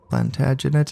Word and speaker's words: Plantagenet: even though Sir Edward Plantagenet is no longer Plantagenet. Yeah, that's how you pronounce it.